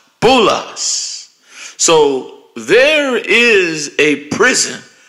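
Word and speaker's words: بولس: Hell called Paul in the Arabic tongue it's pronounced bulas so there is a prison with your name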